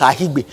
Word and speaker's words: Akigbe: they say, the director said your name is Ahigbe. So why is there a K in your name if you don't want us to pronounce it? You people just put things, that's the thing with Nigeria, resource control. You put things there you won't use. Your surname is spelled A-H-K, and we won't pronounce the K, so why is it there?